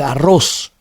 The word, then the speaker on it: arroz: No es arro, es arroz.